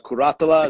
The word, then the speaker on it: Curatola: legend here Vincent Curatola karate Allah is how you say that into today your rank